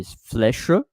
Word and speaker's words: flèche: And there is an E at the end, but the E is silent. I can say flèche, but most of the time I will say flèche.